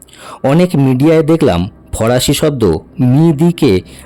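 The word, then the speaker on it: midi: অনেক মিডিয়ায় দেখলাম ফরাসি শব্দ মিদিকে মেডার বলছে। এটা কিন্তু সঠিক উচ্চারণ নয়।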